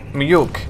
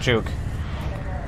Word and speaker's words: mjuk: Mjuk, actually, not juke. Swedish J is Y.